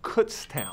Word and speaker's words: Kutztown: it's real or made-up cuts town first of all it's pronounced Kutztown alright real quick no